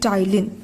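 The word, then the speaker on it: ptyalin: आई एन एन की जिसमें P silent हो जाता है और हम इसको पढेंगे टाइल तो सलाइवा ने कौन-कौन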